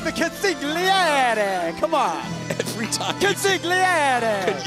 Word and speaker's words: consigliere: Ladies and gentlemen of the jury, my name is Luca Crucifino, consigliere to Tony D'Angelo and the D'Angelo family in NXT.